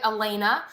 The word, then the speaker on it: Elena: That's how you say it, Elena.